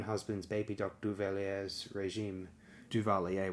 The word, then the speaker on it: Duvalier: baby Dr duvelier's regime duvalier would be the exact pronunciation there the record is